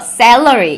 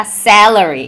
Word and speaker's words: salary: 샐러리라고 이야기를 하기가 쉬운데, 미국 사람들이 샐러리를 발음하는 거를 들어보면요, 그 에 발음을요 더 우악스럽고 더 입을 크게 벌려서 이야기를 해서 salary 이렇게 이야기를 합니다. 그래서 샐러리가 아니라 salary 이렇게 되게, 그래서 특히 이렇게 A